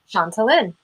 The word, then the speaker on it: Chantalynn: Think of Shanti, like in yoga, Shanti, peace. Yeah. Chantalynn.